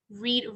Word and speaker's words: read: live, left, make, made, read, read. Como les decía de read y read, se escriben igual, pero se pronuncian diferentes, so por eso es irregular. Read in the present, read in the past.